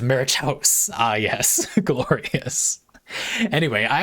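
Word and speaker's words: macuahuitl: Maquahudal? Maquahudal? That's almost certainly absolutely terrible. Pronounced Marichaus.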